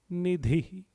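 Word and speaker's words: निधि: The 567th name, Bhakta Nidhi. Bhakta Nidhi. Let's pronounce it word by word.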